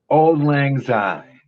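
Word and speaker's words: Auld Lang Syne: fairly old school song is, and I can't pronounce this right, so Aaron, could you help me out with this? Old Lang Syne.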